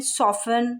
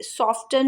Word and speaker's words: soften: SOFTEN, सॉफन, सॉफन, इस तरह के जो डिज़ाइन है। अब ये सॉफ्टन नहीं बोलेंगे, इसको सॉफन बोलेंगे।